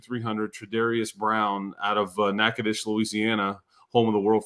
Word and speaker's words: Natchitoches: they make them, is Natchitoches, Louisiana. And if you look at the way Natchitoches is spelled, you wouldn't think that you're calling it Natchitoches. It looks like Natchitoches or something, but not to be